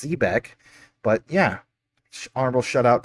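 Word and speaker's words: xebec: Yeah, it says XE BEC. So, technically that would be pronounced Zebeck, but yeah, honorable shout out to Zebec ZBCN.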